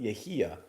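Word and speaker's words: Yahya: first name yeah it's it's y-a-y-a but it's pronounced yahia abdul mateen ii got it he's a great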